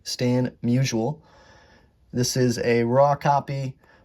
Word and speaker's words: Musial: I mispronounced his name in a previous video, so shout out to someone who commented to correct me. Stan Musial.